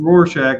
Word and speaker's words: Rorschach: I'm sorry, I don't know how to pronounce It's Rorschach.